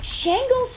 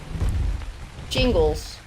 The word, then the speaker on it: shingles: Oh, I just been pronouncing it wrong. Shingles.